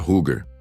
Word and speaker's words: hugr: A UGR pronuncia Huger. Vem do nórdico antigo e significa literalmente a força da mente, a essência do pensamento, a vontade que direciona o guerreiro.